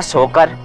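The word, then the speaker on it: Tso Kar: जहां पर रुके थे जगह का नाम है सोकर 30 होकर 30 साइलेंट होता है टीम बोलते हैं सॉरी बोलते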